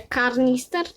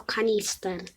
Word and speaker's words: kanister: A wy jak mówicie karnister czy karnister poprawna wymowa to kanister dobra a Wychodzicie na